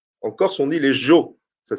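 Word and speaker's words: sgiò: En Corse, on dit les Jo. Ça s'écrit S-G-I-O.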